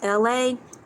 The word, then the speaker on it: Elay: My name is LA, pronounced like LA like the sea.